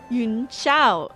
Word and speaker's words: Yunshao: Yunshao. Okay, Yunshao. That's how they say it.